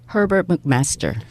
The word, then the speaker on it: Herbert McMaster: 미국 정가에 예를 들면 지금 허버트 맥메스터 이 발음 좀 해주세요. Herbert McMaster.